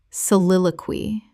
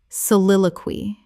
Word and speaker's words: soliloquy: Soliloquy. Correct pronunciation. Soliloquy. Four syllables with the stress on the second.